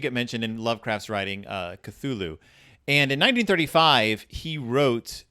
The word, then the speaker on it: Cthulhu: it's something like Call Cthulhu, which the first syllable pronounced gutturally and very thickly.